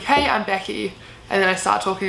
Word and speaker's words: Becky: Also with my name, like with Becky, I have to pronounce it Becky, like the E kind of turns into an A, otherwise they think I say like Nikki or Vicky or something like that.